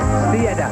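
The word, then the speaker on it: Stieda: Now there's a new name for the French to pronounce. They say Steeda.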